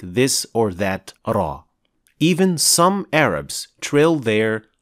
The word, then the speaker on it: ر: pronounced in the Quran to pronounce ra properly two organs will make contact with each other the tip of the tongue and the alveolar Ridge Raw Raw Raw will first focus on